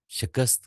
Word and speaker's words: शिकस्त: आप इसको शिकस्त ही पढ़ें। शिकिस्त पढ़ेंगे तो लोग कहेंगे कि आजम साहब ने चवल ही मारी है। समझ तो गया हूँ सर। ठीक है जी। साइलेंट समझ गया। हाँ जी। जी सर। तो आपने शिकस्त ही पढ़ना है।